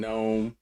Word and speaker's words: gnome: The G and gnome.